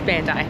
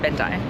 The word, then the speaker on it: Bandai: It's Bandai, not Bandai.